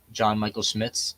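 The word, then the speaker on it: John Michael Schmitz: the starters played except like um it's for John Michael Smiths that's how you say his name yes yeah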